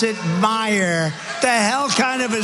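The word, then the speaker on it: Meijer: I j e r but they pronounce it, Meyer the hell. Kind of a spelling. Is that Meyer? My shirt, It's my pleasure, but it's actually pronounced Meyer.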